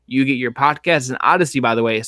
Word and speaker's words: Audacy: And Odyssey, by the way, is spelled AUDACY.